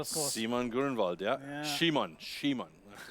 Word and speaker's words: Simon: Shimon.